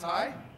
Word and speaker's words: Heigh: um now true actually my last name is hi yeah it really is he didn't like mispronounce